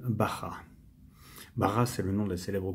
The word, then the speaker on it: Baja: excusez-moi le Volkswagen Beatle Bara ba vous écrit B a J a et ça se prononce à l'espagnol Bara bar c'est le nom de